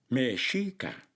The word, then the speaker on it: Mexica: los indios aztecas y su nombre era mexica no azteca así le decían los españoles mehica y si no pronuncias